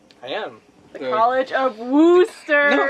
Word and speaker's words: Worcester: The College of Worcester. No, it's okay, I'll correct you. It's Worcester.